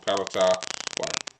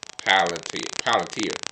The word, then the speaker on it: Palantir: According to the government officials, at least those members formerly worked for Palantir, uh, Palantir, I said it wrong, while two others had worked at companies funded by Peter Thiel, an investor and a founder of Palantir.